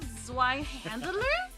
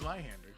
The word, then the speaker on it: Zweihander: Oh, it's not Zweihandler? It's Zweihander. Oh, Zweihander. Oh, okay.